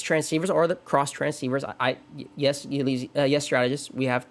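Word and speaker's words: Xtransceiver: Going to point out before you get into Gen 5, it's pronounced cross transceiver. There's even a little line in the games. Yeah. Yeah. Yeah. I still call it X-Transceiver because I have because it's more fun saying X-transceiver than cross transceiver.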